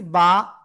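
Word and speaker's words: ب: ঠিক আছে তারপরে শিখেছি বা দুই ঠোটের ভিজা অংশ থেকে এক আলিফটা নিয়ে উচ্চারণ করব বা এরপরে শিখেছি এই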